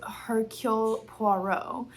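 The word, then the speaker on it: Hercule Poirot: I have just finished this book by Agatha Christie and I did figure out that the way you say his name is Hercule Puo and it's French and I'm sure I'm still saying it like an American, but that's okay.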